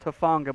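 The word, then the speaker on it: Hufanga: have my pronunciation in front of me flo hufonga from usc uh i know it's pronounced tafonga but i always forget the first name there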